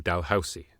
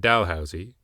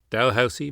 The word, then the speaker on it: Dalhousie: a Haligonian university, not Delusi like the Niagara Peninsular port north of St. Catharines, or the Ottawa red light street of Dalhousie. Dalhousie. The S is pronounced "s" not "z".